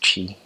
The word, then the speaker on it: Twi: local dialect that's called Qi Twi but it's pronounced Qi and foremost missionaries in the quantity mission they'll